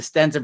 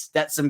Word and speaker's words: Stetson: okay it Stetson and then I reverted back to Stenson for some reason I don't know why it is Stetson Bennett I will say it